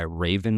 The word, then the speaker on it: Wraven: guy who goes by Raven Labs on TikTok and Instagram. The Raven is spelled with a W. It's WRAVEN.